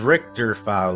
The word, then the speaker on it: Richter Fowl: Although the pronunciation is Richter Fowl, like the Richter scale, or Richter Belmont.